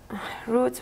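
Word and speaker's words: routes: roots by environmental factors roots with an E of course but you don't pronounce it and um en mental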